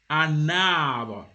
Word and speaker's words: un arbre: But now when you put it before if you join it the vowel of the tree here, arbre, you say a na. You see, na, you will hear na, you will hear that N, un arbre.